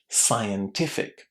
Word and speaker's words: scientific: Lots of students don't know how to say it. So how would you say it? Will it surprise you that it's pronounced in exactly the same way as the I in environment, admire, and private.